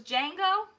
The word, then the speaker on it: Django: Oh, the D is silent, so it's Django? What did you say, Django?